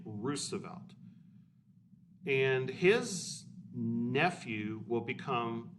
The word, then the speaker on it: Roosevelt: That's actually how you say his name, Roosevelt.